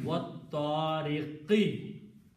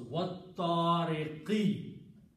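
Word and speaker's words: وَالطَّارِقِ: So this alif is not pronounced, wat tariqi.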